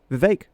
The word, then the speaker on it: Vivek: Vivek, which rhymes with cake, but also with snake. Take your pick, pick your poison.